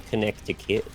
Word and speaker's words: Connecticut: Hey, let's put it right next to a place called Connecticut that is spelled nothing like it actually sounds. Connecticut.